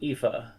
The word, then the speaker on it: Aoife: It's Aoife, something like that. But it's pronounced Aoife.